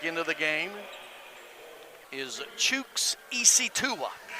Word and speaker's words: Isitua: the game is chooks isitua and that is spelled chooks is spelled c-h-u-k-s and ec tua is spelled just like it doesn't sound i knew it was